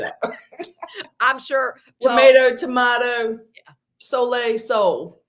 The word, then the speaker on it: sole: so I didn't realize when Wendy said soay and I'm like I've always called it Soul so I it's it's spelled s o l e and um so anyway I went back and listened to multiple practitioners that recommend it and they all said soay and I'm like all